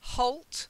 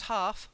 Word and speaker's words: halt: then considered silently considered Holt not half yeah and considerate I'm sorry to say it's another one that has the considerate okay considered she's very considerate then halt not half halt to stop hold that's it and Eastwood